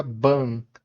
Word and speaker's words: Bun: Tem o mesmo som do one curto, parecido com o one em cup.